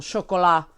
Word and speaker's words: Chocolat: like Finding Neverland and Chocolat for well Shu Cola but that's not how Americans say it for Miramax which